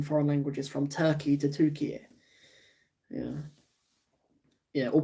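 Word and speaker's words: Türkiye: name changed in foreign languages from turkey to tukey yeah yeah or pronounced turkey a i don't think people can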